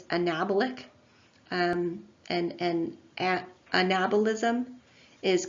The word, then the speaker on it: anabolism: It's anabolic, and anabolism is correct, not anabolic. You have to put the emphasis on the second syllable of both catabolism, anabolism, and metabolism.